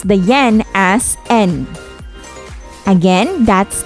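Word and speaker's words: 円: would be rupiah in japan you have their yen but you pronounce the yen as n again that's n let's highlight on nihon that's japan again the currency is n in connection to that let's discover and examine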